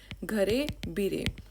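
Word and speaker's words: ঘরে বাইরে: और इसका जो बंगाली टाइटल है दैट इज़ घरे बीरे। This is like Bengali pronunciation, पर ये घर बाहर बोलना चाहते हैं।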